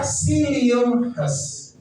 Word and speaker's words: psyllium husk: Jadi psyllium husk ini dibaca psyllium husk, ya, psyllium husk dari tanaman planta guavata.